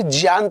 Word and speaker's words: ज्ञान: ये जो शब्द है, ये जो इसको आप ज्ञान पढ़ते हैं, दरअसल इसका जो सही उच्चारण होता है वो आपका जिया होता है। जिया क्यों होता है? क्योंकि ये जा और यहाँ से मिलकर बनता है, इसलिए इसको क्या बोलते हैं? जिया बोलते हैं।